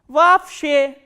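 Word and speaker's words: вообще: And you have to remember, whenever two o sounds come together or two letters o come together in a word, this double o will be pronounced as a single a, a.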